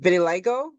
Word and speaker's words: vitiligo: Is it vitiligo? Yeah. Okay, is it genetic or can you get it? And what causes it? So vitiligo is an autoimmune condition.